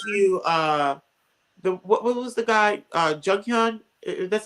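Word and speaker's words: Jonghyun: We miss you, what was the guy, Junghyun That's how you pronounce his name from Yeah.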